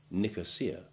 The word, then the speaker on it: Nicosia: way to avoid mistakes first some true long i3 examples the relevant letter being in italics where there is more than one i in a word rio trio beer real pizzeria tanzania nicosia fiat and we mustn't forget that delicious liqueur tia maria and now for some